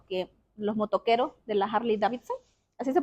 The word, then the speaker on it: Harley Davidson: grande de los que los motoqueros de la Harley Davidson así se pronuncia entonces Esas personas que tienen que quieren